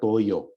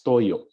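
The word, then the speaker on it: toyò: this Toyo Toyo okay not Toyo it's Toyo okay there's a glal stop here on the last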